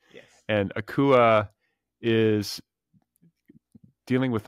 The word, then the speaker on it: Akua: the proper pronunciation? Yes. And Akua is dealing with like double bereavement.